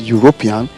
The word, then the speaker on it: European: have a european now when you look at the word european it begins with letter e but the sound there is sound e which is a consonant sound so based on the